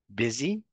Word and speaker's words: busy: a double z bzy it sounds has the same sound as dizy busy dizzy so that's one example